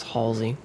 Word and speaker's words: Halsey: I always pronounce it Halsey. It's Halsey.